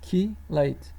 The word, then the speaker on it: chelate: more than one bond the term chelate pronounced as key late from the greek for claw is also used to